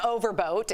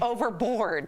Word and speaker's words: Overboard: Man Overboat.